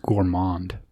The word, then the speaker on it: gourmand: Milano and Xander Berkeley I think that one's pronounced Gourmand there's no m in it either it's when